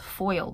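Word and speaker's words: faol: I'm offending anybody, is foul. It's pronounced foil though, but it's spelled F-A-O-L.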